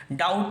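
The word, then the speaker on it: doubt: D silent है knowledge डाउट में B silent है यहां पे कैटल में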